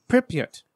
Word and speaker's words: Pripyat: That's the way I pronounce it. And it's not correct. It's Pripyat. Okay. Pripyat, yeah.